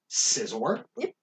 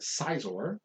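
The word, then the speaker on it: Scizor: fun uh quill fish scissor i know people who used to call it seizor i don't like that i don't like it either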